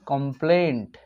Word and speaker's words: complaint: অর্থাৎ অ্যাকচুয়ালি উচ্চারণটা হবে কমপ্লেন্ট, আর শব্দটাও টি যোগ হবে। What is your কমপ্লেন্ট, what is your কমপ্লেন। ওকে, আমরা অ্যাকচুয়ালি কমপ্লেন্ট উচ্চারণটা না করে টিটাকে আমরা উজ্জ রেখে দিই, যার জন্য আমরা বুঝতে পারি না যে অ্যাকচুয়ালি শব্দটা হচ্ছে যে কমপ্লেন্ট।